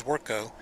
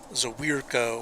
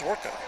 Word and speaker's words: Zwerko: I'm sensitive about that because my last name is Zwerko, and people look at that and they try to overpronounce it. You know, they try to say Zawirko or Zverko, or it's just Zwerko.